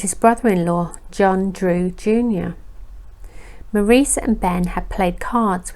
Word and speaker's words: Maurice: his name to be pronounced as the French pronunciation of Maurice and not the English pronunciation of Morris his mother was Georgie